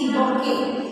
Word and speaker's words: bouquet: No T is pronounced there.